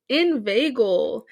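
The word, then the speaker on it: inveigle: word of the week this week's word is invagel and it's spelled i-n-v-e-i-g-l-e and it has two definitions one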